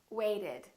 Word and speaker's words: waited: letter is to order we add an extra syllable wait waited attend attended if the